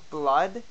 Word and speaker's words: blood: We have blood and book. 2 completely different sounds for one vowel combination, the double O.